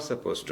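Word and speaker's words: supposed to: ശരിക്കും സപ്പോസ്ഡ് ടു എന്നുണ്ട്, പക്ഷെ ഉച്ചാരണത്തിൽ അത് കേൾക്കാൻ പാടില്ല. യു ആർ നോട്ട് സപ്പോസ് ടു, യു ആർ സപ്പോസ് ടു.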